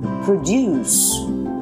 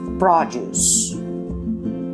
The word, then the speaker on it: produce: The verb is pronounced produce and the noun is produce.